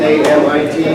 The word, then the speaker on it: Amit: It's written A-M-I-T, pronounced A-M-E-E-T, Amit.